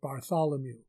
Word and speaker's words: Bartholomew: We would pronounce it Bartholomew.